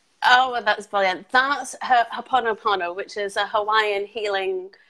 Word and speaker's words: Ho'oponopono: He cannot pronounce it either. Oh, well, that's brilliant. That's Ho'oponopono, which is a Hawaiian healing prayer and technique. Ho'oponopono.